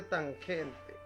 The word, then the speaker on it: tangente: lado adyacente y también se escribe como tam pero no se dice tan se dice tangente también tenemos la cosa